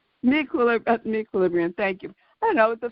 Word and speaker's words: meQuilibrium: Can you pronounce it for me, Alanna? I'm having difficulty. It's called Mequilibrium. Mequilibrium, thank you.